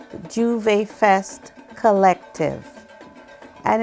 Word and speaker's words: Jouvay: we have a group called juve fest collective and it's spelled j-o-u-v-a-y f-e-s-t and its mission is to